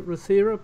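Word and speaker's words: Rothera: this is a I don't know if I'm pronouncing it correct maybe I should ask Dolly Rther base is that correct?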